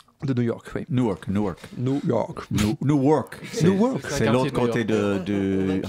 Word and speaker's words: Newark: Newark. De New York, oui. Newark.